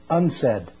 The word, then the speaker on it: UNCED: for environment and development it is pronounced unsaid and perhaps indicating the